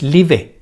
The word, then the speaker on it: live: Ese verbo no pronuncia la E, no es live, es live.